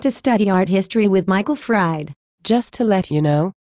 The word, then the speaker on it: Michael Fried: And, by the way, his name is pronounced Michael Fried.